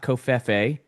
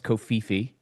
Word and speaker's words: Kofifi: Not Kof. People pronounce it wrong. It's Kofifi.